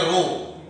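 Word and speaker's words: rho: इसका सिंबल रो होता है, इसको प्रोनाउंस करेंगे रो। ये ग्रीक लेटर है, इसको ऐसे लिखेंगे, ऐसे करके ऐसे लिखेंगे।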